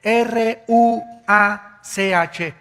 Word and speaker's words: ruach: El ruaj que se escribe r u a c h.